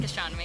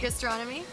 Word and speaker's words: Gastronommy: Is that pronounced correctly? Yeah, Gastronomy. Gastronomy.